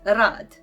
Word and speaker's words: rad: And the word that we will have it is rad. Rad. It means work, and it is like R in a red.